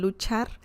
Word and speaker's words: luchar: to pronounce I mean luchar you only need to remember the chi sound just like you say cheese it's the same Chi sound so Lucha Lu Char